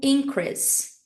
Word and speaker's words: increase: o aumento o substantivo essa palavra Então ela é lida como increas increase increas there has been an increase os increas nós temos então o verbo increase e o substantivo increas Ok vamos pra próxima